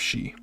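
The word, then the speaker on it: し: But yes, finally we do have she, which is the exception. The first exception for hiragana.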